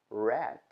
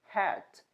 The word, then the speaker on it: rat: verbos regulares do passado outro erro comum é pronunciar a letra h do mesmo jeito como a gente pronuncia o r no início de palavras em português então por exemplo a palavra rat que é rato Às